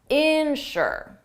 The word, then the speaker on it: insure: Ensure the syllable is on the second sound ensure its louder ensure, but the second one is insure. Insure the stress is on the first syllable.